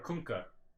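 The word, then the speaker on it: Kunkka: triggering me all right kka or kunka kka it's kka even though I don't say it it's kunka you know how I know because I ask kka himself how don't pronounce his name well who plays that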